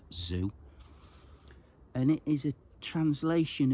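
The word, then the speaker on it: Sze: S-Z-E. I think it's pronounced Zhu.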